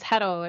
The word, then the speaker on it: Hetal: My name is Hetal. It rhymes with petal, right?